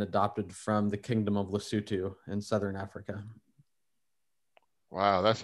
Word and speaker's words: Lesotho: it phonetically this country looks like it's it's pronounced lesotho but it's pronounced lesotho it's it's the little small country in the